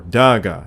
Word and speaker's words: Dagda: he is most commonly known as the dagda or Daga in modern Gaelic pronunciation medieval commentators generally believed